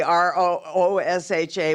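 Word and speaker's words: Ruscha: ed rachet does everybody it's it's phonetically Roo sha Y and he's really kind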